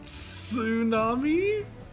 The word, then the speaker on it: tsunami: But also still no T sound. He just said tsunami. He just he just hissed the S.